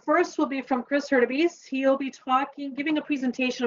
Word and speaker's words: Hurtubise: You're probably wondering how that bizarre name is pronounced, but it's pronounced Hurtubise.